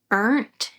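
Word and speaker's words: Ernt: I think it's pronounced Ernst, E-R-N-T.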